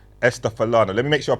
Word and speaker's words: Esther Falana: You said it right, Esther Falana. Thank Yeah. you. That's what I thought. I've heard people pronounce it in different ways, but I thought my way was the right way.